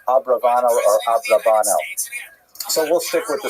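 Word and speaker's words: Abravanel: I should mention by the way many people pronounce the name uh Abarbanel and that's because of the uh it's much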